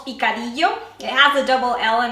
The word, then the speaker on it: picadillo: Mexican style that's called picadillo it have the double Ellen in Spanish the Double L is pronounced kind of like a Y so it has a